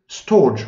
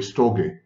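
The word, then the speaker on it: storge: and then there is storch or should be pronounced by the way stogy it's the love for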